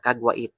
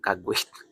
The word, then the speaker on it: Caguait: So ganun po yung pag-pronounce guys ha. Kagwait. Yan may mga naririnig kasi ako kagwit. Kagwit daw yan. Hindi po kagwit. Kagwa kagwait po 'yung tamang pag-pronounce Makio.